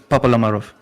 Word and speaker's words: Papalamarov: Say it with me now. Please, look at my lips. Pop. Pop. Ma. Ma. La. La. Marov.